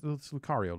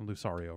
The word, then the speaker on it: Lucario: Playing as Yoshi or Lucario it's Lucario, not Lucario, right?